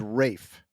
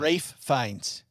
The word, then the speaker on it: Ralph Fiennes: Because I'm pretty sure the right way to say his name, which is ridiculous, is Rafe. Fine. Rafe Fiennes.